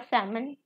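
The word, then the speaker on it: salmon: ठीक है, सियरो, उसके बाद सैमन, और अगर इंग्लिश उसमें बोले तो सैलमन, बट एल साइलेंट है यहाँ पे।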